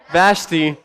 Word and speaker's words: Vashti: He was so mad at this queen named, I call her Vashti, I probably pronounced that wrong, Vashti. There we go. That's how to pronounce it.